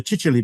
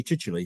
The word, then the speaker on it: Chichele: But the Chichele bit causes people lots of problems because it's spelt Chichel. And when they come to look at it, they have difficulty actually knowing to put a Y on the end of it.